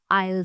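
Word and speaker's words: aisle: आसान करनी है तो इसकी प्रोनंसिएशन के लिए आप बस प्रोनाउंस करें ए आई एल आयल seat A आई एल आयल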